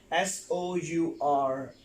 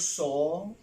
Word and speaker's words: sour: Here you can see S-O-U-R. It's not saw. The word is not saw. The word is sour.